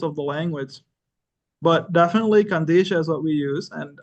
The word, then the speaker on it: Qadisha: put out there and when you look at the word kandisha which the way we pronounce it and like you said Brother s you know we have the calans who say Kisha or the or the syc Orthodox who go and say kadi show they're all unique we